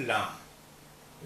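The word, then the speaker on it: لام: सीखते हैं नया अक्षर लाम इस तरह बनाएंगे लाम ऊपर से सीधी लकीर आई और फिर ये यहां से घूम गई लाम इसकी आवाज हिंदी के ला जैसी होती है हिंदी के ला जैसी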